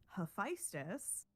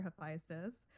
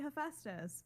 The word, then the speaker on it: Hephaestus: So I had to train myself not to say Hephaestus, because that's what I think is more common in at least like the American public zeitgeist on how to pronounce that name.